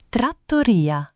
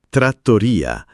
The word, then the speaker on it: trattoria: Trattoria. Trattoria. Non trattoria, ma trattoria con la O chiusa.